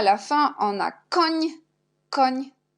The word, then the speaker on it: koń: Et à la fin, on a koń. On a seulement N avec l'accent, on prononce ni comme NI dans le mot przymiotnik.